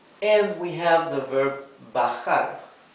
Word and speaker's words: bajar: And we have the verb bajar, bajar. Remember that letter J in Spanish is pronounced like a very rough H in English, okay?